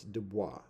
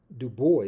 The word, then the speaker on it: Du Bois: is f um and the pronunciation of the S on FR is not made it's not sounded so it's du that's how it's pronounced in French France when one is speaking France now duor is an Americanization of that Americanized pronunciation of his name and so uh and